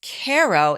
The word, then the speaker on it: Cairo: Okay, I've been saying Cairo. It looks like Cairo. It's Cairo, but it's pronounced Cairo, is named after the Egyptian city.